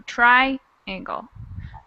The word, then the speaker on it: triangle: The accent on the word triangle is in the first syllable, so triangle.